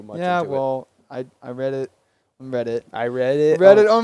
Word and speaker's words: Reddit: oh my God I just thought it was pronounced read it I mean read a writer spelled the same